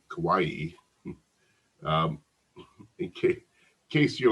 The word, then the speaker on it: Kauai: she followed 700 children on the island of Kauai Kauai um okay in case you're like me and can't spell it I'll spell free k-a-u-a-i the island of